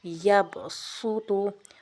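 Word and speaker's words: يَبْسُطُ: سین لکھا جاتا ہے، جیسے پہلے 2 الف میں پہلے 2 الفاظ میں سین ہی پڑھیں گے، پہلے 2 الفاظ میں، ٹھیک ہے، یبسط، باسطۃً، اور نمبر 3 میں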